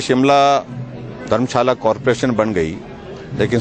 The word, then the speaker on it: शिमला: और उस दृष्टि से क्योंकि अंग्रेजों को श्यामला बोलने, माँ श्यामला बोलने में कठिनाई आती थी, ये प्रोनाउंसिएशन में बिगड़ते बिगड़ते श्यामला से शिमला हो गया।